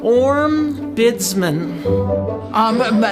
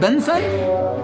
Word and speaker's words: ombudsman: Ombudsman. Benson? Uma Doodlesman?